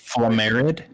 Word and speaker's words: Flamerad: It's pronounced Flamerad. Flamerad.